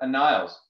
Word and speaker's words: Aniles: dana's level speak pretty good french um but a niles if that's how you pronounce it you've got it right honestly i